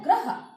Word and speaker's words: ग्रह: तो देखिए हमारा शब्द है ग्रह, दूसरा शब्द हमारा क्या है गृह। ग्रह और गृह, ग्रह में क्या है र आ रहा है और गृह में हमारा क्या आ रहा है री आ रहा है।